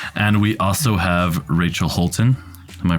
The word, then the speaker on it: Holtin: blogger very successful and we also have Rachel Holton am i pronouncing that correctly yeah that's right she is